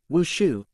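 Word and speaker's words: wushu: Martial arts is pronounced in Chinese as wooshu and dance is also pronounced as woo.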